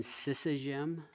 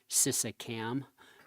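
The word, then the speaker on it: Şişecam: but super impressive organization, Sisagem, I think is how you say it. It looks like Sisacam, but in any event, it's a really well-run outfit, and we couldn't take any photos.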